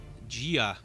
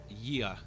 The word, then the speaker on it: Gia: And let's see, it's pronounced Gia, not Yia.